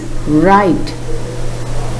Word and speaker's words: write: The second word is right. In this word, the letter W is not pronounced.